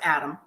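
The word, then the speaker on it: Atem: Little baby named Adam, spelled A-T-E-M. Yes. I guess it's pronounced Adam.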